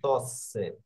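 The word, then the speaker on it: tosse: এই যে দেখুন তসে, হ্যাঁ এই যে রস, কারণ এখানে ডাবল এস আছে, একসাথে দুইটা এস এ আছে, ওকে এখানে দুইটা এস এ আছে, এই জন্য স্বর উচ্চারণ করছে, বুঝতে পারছেন?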